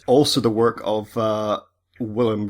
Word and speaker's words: Wilhelm: Also the work of uh William Reich or Villim Reich, I should perhaps pronounce that.